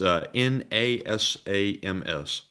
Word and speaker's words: NASAMS: Is that spelled like N-I-S-A-M-S? It's NASAMS. NASAMS.